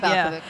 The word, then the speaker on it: Balkovich: Balkovich, yeah.